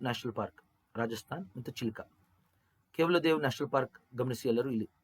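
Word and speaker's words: Keoladeo: ಹೇಳಿ ಕೊಟ್ಟಿದ್ದಾರೆ spelling okay ಇದನ್ನ ಉಚ್ಚಾರಣೆ ಕೆವಲೋ ದೇವ್ ಕೆವಲೋ ದೇವ್ ಅಂದ್ರೆ ಏನು ಒನ್ ಗಾಡ್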